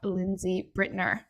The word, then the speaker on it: Lindsay Brittner: So I'm super excited to have Lindsay Brittner. Is that correctly pronounced? Yes, that is.